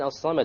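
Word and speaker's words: الصمد: Okay, the lam in as-samad, why did we not pronounce it? It's a solar letter. The sad is a solar letter, which means we drop the lam when we have the alif lam there.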